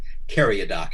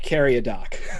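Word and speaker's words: Cariadoc: sca name your duke carry a dock is the way i pronounce it dude but it's really duke carry a dock it's supposed to be a uh a european pronunciation of an arabic name i don't speak arabic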